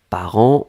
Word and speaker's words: parents: on l'écrit au pluriel ici part1 nts d'accord par an on prononce pas le thé on prononce pas lui